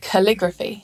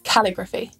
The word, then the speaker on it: calligraphy: And calligraphy, not calligraphy.